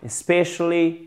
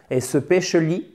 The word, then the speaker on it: especially: Often, often, comme vous voulez, especially, especially, très important là de bien mettre l'accent tonique au bon endroit, sinon vous allez dire especially, et là la personne va vous regarder et va faire come again.